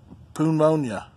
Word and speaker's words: pneumonia: It's got a silent P, just like pneumonia. Or pneumatic.